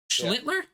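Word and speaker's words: Schlittler: Schlitler. Schlitler. There's a second L in there.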